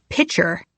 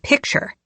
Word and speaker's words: picture: She says pitcher instead of picture. I think it's a Boston thing.